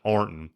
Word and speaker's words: Ironton: Like you got Arnton, you're supposed to be Ironton is a town in Ohio. Okay. You know that. Right. Everybody pronounces it Arnton.